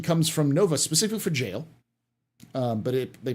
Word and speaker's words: Jale: right next question comes from Nova specifically for jail um but it they pronounced her name Gail so uh g a l e instead of